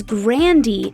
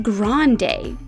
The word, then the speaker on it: Grande: just being called ariana her family pronounces the name with a hard e at the end instead of a long day so it's grandy not grande my grandpa said grandy don't